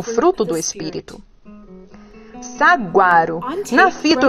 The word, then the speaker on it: saguaro: O saguaro é pronunciado saguaro.